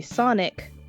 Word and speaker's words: SONIQ: So Raz is gonna tell Babbitt that their hotel it's spelled SONIQ. That's right, it's the Sonic Hotel and Casino.